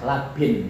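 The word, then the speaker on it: لبن: Yarbitu labinatiha ba'dua biba'din, sebab awas labin ya, bacanya labin, jamaknya labinat, tulisannya podo, lam bak nun, was ya, tulisannya podo, sing sitok fathah, sing sitok kasro.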